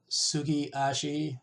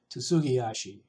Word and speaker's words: tsugiashi: So it's sugiashi, or you may hear it pronounced tsugiashi.